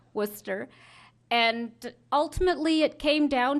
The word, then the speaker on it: Worcester: of Worcester which I it took me a while to pronounce like everybody else who's not from the area not Worchester Worcester and ultimately it came